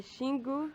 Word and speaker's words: Xingu: The Xingu River. Xingu River. Okay, so even though it's got an X, pronounce it a Xingu River.